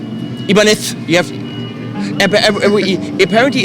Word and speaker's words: Ibanez: the Ibanez. Ibanez, you have. Apparently, it's wait. Someone from Spain said how to pronounce it. Ibanez. It's Ibanez.